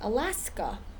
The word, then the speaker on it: Alaska: The same thing with the word or the name of the place, Alaska. It ends in an A, but it's not that A sound. It's like a short U sound.